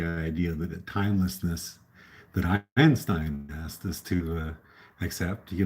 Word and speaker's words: Einstein: so I'm gonna try it's not high n Stein as I sang in my songs it's supposed to be Einstein so I apologize to